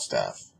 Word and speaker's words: staph: And no, I'm not talking about staph like the people you work with. I'm talking about a disease called staph, which is spelled S-T-A-P-H.